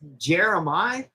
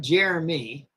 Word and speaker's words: Jeremiah: It's Jeremiah. It's not Jeremy.